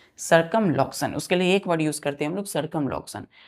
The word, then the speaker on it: circumlocution: इसका प्रोनाउंस क्या करते हैं बच्चों हम लोग? सरकमलोक्शन।